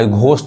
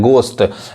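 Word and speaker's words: ghost: यहाँ देखिए यहाँ पे गोस्ट पढ़ाएगा, घोस्ट लोग गलत पढ़ते हैं, गोस्ट।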